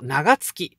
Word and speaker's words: 長月: に 9 月は月の異名長月と読みます旧暦の 9 月